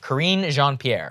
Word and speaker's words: Karine Jean-Pierre: Okay, correct my pronunciation. Karine Jean-Pierre.